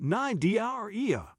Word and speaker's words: Cnidaria: Corals belong to the phylum Cnidaria, pronounced Cnidaria, a group that includes jellyfish, anemones, Portuguese man-o' war, and several other gelatinous and stinging marine invertebrates.